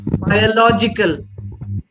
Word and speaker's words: biological: say logic logical whenever you have a word and even i see or i c a l those are adjective forms you stress on law biological biological stress on